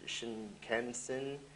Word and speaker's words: Shinkansen: And this is the Japan's fastest train, the 500 series Shinkansen.